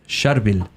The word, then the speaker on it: Charbel: Syriac name specifically, and you say it like this, Charbel, very hard, it's a tongue twister.